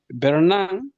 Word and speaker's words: berenang: Bernang berenang bernang bernang like this do pronounce the G at the end or we don't berenang orang the last the last the last we